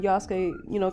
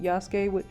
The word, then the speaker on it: Yasuke: let me know that the Japanese actually pronounce it Yasuke, which is correct, because if anybody's watched Naruto, you don't say Sasuke, you say Sasuke. And it didn't occur to me because everybody says Yasuke.